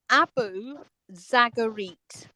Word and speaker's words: Abu Zagarit: It's Abu Zagarit. Okay. So the I is like two E's.